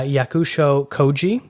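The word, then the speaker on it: Yakusho Kōji: i really hope i say this correctly uh yakusho koji who is a very famous japanese actor a plus on the pronunciation a plus yeah you got it right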